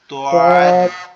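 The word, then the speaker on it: ضاد: দোয়াদের আওয়াজটা হচ্ছে সবচেয়ে কঠিন, মানে সব থেকে কঠিন। এটা কিভাবে? এটা জিহ্বার গোড়া, আমাদের যে জিহ্বা আছে, জিহ্বার গোড়ার অংশটা এই ডান সাইডের মাড়ির সাথে লাগবে, ডান সাইডের উপরের মাড়ির সাথে।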